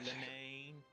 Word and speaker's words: Linene: I pronounce it Linane.